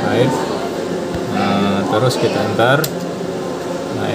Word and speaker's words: RAID: Nah, ini bacanya RAID.